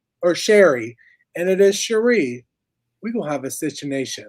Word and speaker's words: Sherry: And she was calling her Cherie. And I'm like, oh, snap. It's spelled Sherry, but it's Cherie.